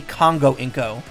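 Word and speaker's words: コンゴウインコ: Congo-inko? Oh, Congo-eco. Like Congo, the location, Inko.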